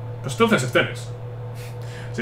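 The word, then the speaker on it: Telles: En Brasil se dice teles. Pues entonces es teles. Si en Brasil se dice teles, será Nexteles. Hay que pronunciarlo en su idioma original.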